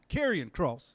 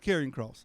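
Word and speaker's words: Karrion Kross: cross or Killian cross I believe is caran cross how you say it I think it's caran cross it used to be killer cross you know what I'm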